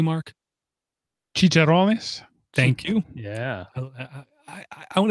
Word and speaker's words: chicharrones: I take pork rinds or how do you pronounce it correctly, Mark? Chicharrones.